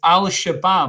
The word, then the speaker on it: Al-Shabab: And thank the Lord that it's one of the names I can pronounce quite easily without mumbling my way through it. It's Al-Shabab.